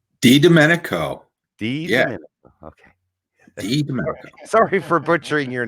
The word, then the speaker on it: DiDomenico: let's bring in jamie well good evening mr dominico is that would that be pronounced correctly d domenico okay sorry for butchering your name there that's